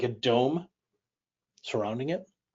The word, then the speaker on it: dom: for home or house it's pronounced so Dome is just house kind of sounds like the English word Dome so Dome just means